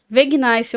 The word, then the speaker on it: Vegnice: E o Instagram é Vegnice oficial. Escreve Vegnice como uma camiseta. Vai ser a pronúncia em inglês, tá gente?